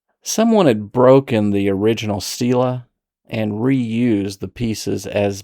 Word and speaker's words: stele: What is a Stila? A Stila, which is sometimes pronounced steelely or maybe even Stella, is a stone monument that ancient rulers erected to commemorate victories, record laws, or mark boundaries.